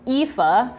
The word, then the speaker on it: Aoife: Her name is Aoife. I've been told that that's how you pronounce it despite the spelling.